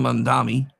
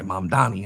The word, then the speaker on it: Mamdani: Uh Mayor Zohran Mamdani, I'm sorry, Mamdani. I don't know why I still say his name wrong.